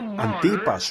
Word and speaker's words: Antipas: No has negado mi fe, ni aún en los días en que creo que se pronuncia A n T I PS, Antipas, mi testigo fiel fue muerto entre vosotros, donde mora Satanás.